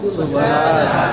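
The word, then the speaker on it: سبحان: Itu kalimat-kalimatnya pertama subhana, coba ikuti subhana. Nah, di sini hanya dipanjangkan subhana, subhana.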